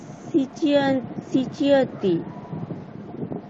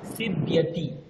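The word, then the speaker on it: सीव्यति: Sarita সুচিয়া সিচিয়তি। স্যার এটা উচ্চারণটা কি স্যার? সিব্যতি, সিব্যতি।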